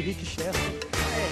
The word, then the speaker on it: Richester: Se escreve Richester e eu pronuncio Rick Chester.